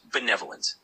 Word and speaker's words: benevolent: Benevolent. Absolutely. That word is pronounced benevolent. The emphasis is on the second syllable.